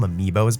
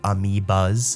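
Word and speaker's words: amiibo: I just called them amiios by accident, but they're actually called amiias.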